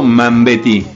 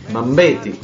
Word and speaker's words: Mambéty: ¿Es Mambéty o Mambéty? Mambéty. Ah, Mambéty. Con acento en la E, Mambéty.